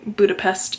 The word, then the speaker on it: Budapest: Hungarian way that being when there is a singular s in a word it makes a sh sound hence why Budapest is actually supposed to be pronounced budapes but as the title